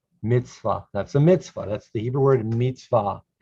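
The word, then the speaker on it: מצוה: hi just a regular o sound high yum mitzvah that's a mitzvah that's the hebrew word mitzvah now you know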